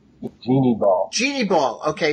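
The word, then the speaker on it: Jeanne Bal: Now, one person who stood out to me in all this was Jean Ball, I think you pronounce her name? Jeannie Ball.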